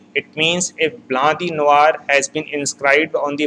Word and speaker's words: Noir: N-O-I is pronounced as Wa, so it is Blanc de Noir.